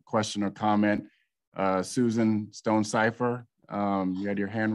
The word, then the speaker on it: Stonecipher: get in another question or comment uh susan stone cipher um you had your hand raised please go